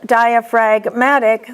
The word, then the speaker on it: diaphragmatic: In diaphragm, the G is silent, but in the adjective, diaphragmatic, the G is pronounced.